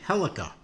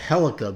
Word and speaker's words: Helica: I'm going to call it Helica because it kind of is spelled similar to uh Celica, which is an old uh Toyota model line from way back.